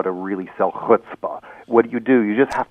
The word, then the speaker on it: chutzpah: Well, it's pronounced with a ch in Hebrew.